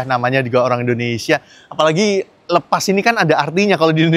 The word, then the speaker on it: Lepas: Emang ini tulisannya lepas, tapi bacanya lepas.